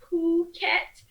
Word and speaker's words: Phuket: phuket um yes it's spelled with a poo and not a fa it's puket uh or at least that's what they tell me um i could be saying it wrong and someone could be